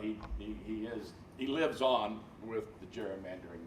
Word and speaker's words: gerrymandering: It should be pronounced gerrymandering, but we pronounce it gerrymandering.